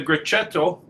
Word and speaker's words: Grechetto: a bottle of the grechetto and i hope i'm pronouncing that correct great say that again c c h in italian is like so great and and this